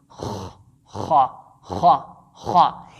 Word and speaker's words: خ: We can have the combination of K and H to produce the sound Kha by pressing the top part of our throat like a scratching sound.